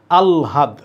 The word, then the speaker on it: আহ্লাদ: হ ল এর মধ্যে কোনটা আগে? অন্তস্থ জ র ল, তালব্য মূর্ধন্য ষ দন্তস্ব হ। ল আগে, হ পরে, তাহলে এটা উচ্চারণ কী হবে? আহ্লাদ। আমরা বলি আহ্লাদ, কেউ বলে আহ্লাদ, কিন্তু এটার কারেক্ট উচ্চারণ আলহাদ।